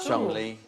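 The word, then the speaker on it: Cholmondeley: sure fanshawe yes did you know that was pronounced no i didn't know that chumley the second one charlie mannering as in capture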